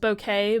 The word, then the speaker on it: bokeh: how to make a bokeh or it's technically pronounced bouquet but you know I say boa I wanted to know